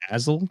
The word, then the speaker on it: Azle: Azle, Texas? Yeah, Azle.